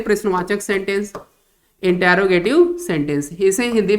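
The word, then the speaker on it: interrogative: जिसे हम कहते हैं इंटेरोगेटिव सेंटेंस। इसे हम कहते हैं इंटेरोगेटिव सेंटेंस। देखिए इसका जो प्रोनाउंस है इंटेरोगेटिव है, नॉट यूज इंट्रोगेटिव। बहुत सारे बच्चे इसको इंट्रोगेटिव बोलते हैं।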